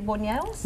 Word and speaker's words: buñuelos: We've talked about, and I how to say this correctly, buñuelos?